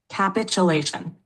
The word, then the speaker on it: capitulation: That's capitulation. It's pronounced capitulation.